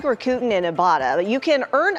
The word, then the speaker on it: Rakuten: Rakuten. I've like, been mispronouncing this whole time.